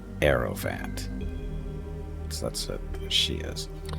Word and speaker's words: Hierophant: Aerophant. Actually, the H is silent. Aerophant.